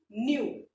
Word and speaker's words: knew: Knew. K-N-E-W, knew. And remember students, in this verb K is silent.